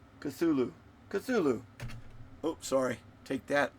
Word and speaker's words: Cthulhu: Is that a screwed up chu tula? Cthulhu.